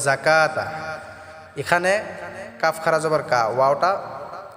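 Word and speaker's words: الزَّكَاةَ: এক আলিফ টা পড়বো যাকাতা এটা আমরা ঝটকা দিয়ে উচ্চারণ করব যাকাতা এখানে কাফ খারা জবর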